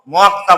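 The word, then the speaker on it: 먹다: মক্তা বলবো। কেন বলবো? বাচ্চিমে আমি ক পেয়েছি এবং ওপরে দেখছি যে সাংয়ের দ্বিগুত সাং হয়, তাহলে সাং দ্বিগুতে ত হয়। তাহলে এটা আমি পরিবর্তিত রূপটা উচ্চারণ করব মক্তা।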